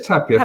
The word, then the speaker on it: Tapia: Is it Tapia? It is Tapia. Thank you, Lisa. Most people say Tapia.